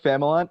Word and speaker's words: Familant: what's up guys uh my name is famalant how's everybody doing uh thanks for having me